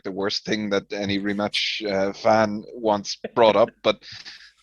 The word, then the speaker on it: Rimac: podcast audience going, who rematch with Elon Musk? Elon Musk had a rematch with someone? If you don't know how to pronounce the name correctly, you'll probably know this guy as Mate Rimac.